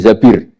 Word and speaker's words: Zabir: Kemudian saya nikah sama Abdurrahman bin Zabir. Di hadis ini bukan bacanya bukan Zubair tapi Zabir.